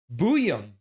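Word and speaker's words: Buium: How is Buyum pronounced? Buyum.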